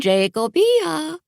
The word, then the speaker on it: Jacobia: "Good morning, Jacobia," she trilled. the accents on the second syllable of my name, by the way, and it's to my friends.